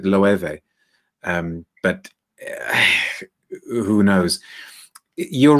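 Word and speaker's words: Loewe: that brand is but i've always pronounced it loeve um but who knows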